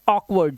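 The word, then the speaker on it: awkward: हो जाते हैं क्योंकि यहां पर ए के साथ डब्लू जैसे ही आया तो इसने अपना उच्चारण क्या कर दिया औ का उच्चारण कर दिया जैसे ए डब्लू ई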